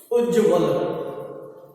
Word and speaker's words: उज्ज्वल: उज्ज्वल अर्थात उ आधा जय व और ल। ये बै का संदेश दे रहा है, यह है शब्द आपका उज्ज्वल। सही शब्द है उज्ज्वल। इसमें बोलते देखिए जय का उच्चारण जो है जय नहीं है, ये उज्ज्वल नहीं है, यह है उज्ज्वल। उज्ज्वल रे जो है ये वे के साथ जुड़ा हुआ है, लगातार फ्लो में जुड़ा